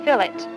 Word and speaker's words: fillet: most popular cut is known as a fill it and the fish industry adopted this term is the American spelling and pronunciation of the French word fillet bullets are prepared by